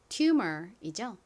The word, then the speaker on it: tumor: tumor이죠. tumor. 철자 써보세요. 가장 앞에는 T 소리 나는 T가 오고요. 그 다음 humor 부분은 UMOR입니다. 여기서 U가 U 소리 나고 M은 미음 소리, OR은 소리가 나죠.